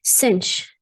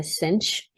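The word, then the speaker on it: sinh: right here we call them hyperbolic functions so cinch this is how you pronounce that you can also call it sine hyperbolic this is defined as e to the x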